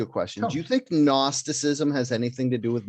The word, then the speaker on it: gnosticism: question do you think gnosticism has anything to do with gnarly because it's spelt gn that's the silent gn yeah yeah uh yeah